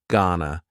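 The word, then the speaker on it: gonna: contraction just like Wana Ghana is generally pronounced with the schah GNA Ghana an example you going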